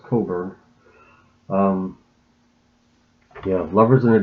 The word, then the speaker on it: Cockburn: It's not pronounced Cockburn, it's pronounced Coburn.